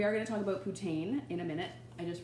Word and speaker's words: poutine: Everyone calls it poutine, but it should be poutine. It's like poutine with the French accent.